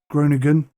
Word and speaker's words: Groningen: and then it's a long drive up to groningen that's how you pronounce it and that's pretty much it i